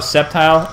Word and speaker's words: Sceptile: Because Skeptile's cool. Sceptile's cool like or, me. Oh, Sceptile? I said Skeptile, like he's skeptical. Some people say Sceptile. That. You know, it's a soft C.